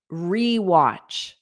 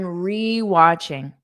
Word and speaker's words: rewatch: So notice the verb is to rewatch. Rewatch. When you add re in front of a verb, it means you do it again. Okay? Now notice that pronunciation. It's a strong re. Re re. I'm rewatching.